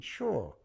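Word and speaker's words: Hsia: He was a guy called Carlton Shaw, which sounds very English, but he was actually Chinese. The Shaw was spelled H-S-I-A, not S-H-A-W.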